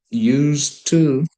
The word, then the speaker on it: used to: Don't forget that we pronounce it used to the same way for use to.